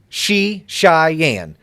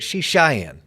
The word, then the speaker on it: Srichaiyan: Do not try to spell his last name, but let me pronounce it for you, Srichaiyan. Patrick Srichaiyan.